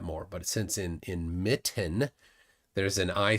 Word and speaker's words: Mitten: te's but we don't we don't pronounce those t's we say Mitten seriously no T you hear that Mitten that's it so there